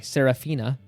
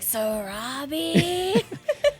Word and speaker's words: Sarabi: or sarapa maybe Sarabi Sarabi new okay it's Sarabi for sure it is SAR I remember um scar yelling it towards the end it is Sarabi like Sarabi that's Jeremy Irons are